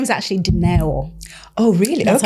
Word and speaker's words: Doro: Well, my name is my name is actually Doro. Oh, really? That's how you pronounce it, but most people call me DO, so it's absolutely fine.